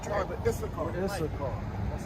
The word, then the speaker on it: Issachar: Issachar.